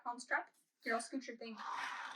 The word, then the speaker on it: Hans Trapp: It's two P's. Like the Von Trapp family? Yeah, Von Trapp, Hans Trapp.